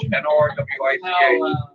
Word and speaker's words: Norwich: Look at, it's going in, I always pronounce it. Yeah. Like Norwich, N-O-R-W-I-C-H.